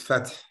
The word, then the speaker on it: Fath: I don't mispronounce it it's fat but fat Okay I I want